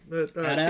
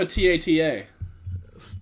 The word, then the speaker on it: AT-AT: AT-AT?